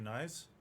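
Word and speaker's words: Knies: I know that you told me I pronounced his name wrong the last time I said it. Matthew Nyes. Oh, I said nice the last time.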